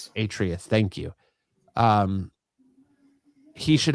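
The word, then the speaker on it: Atreus: beard and the little uh I can't ever pronounce his name right. Atrice or trace or Atrius. Atrius.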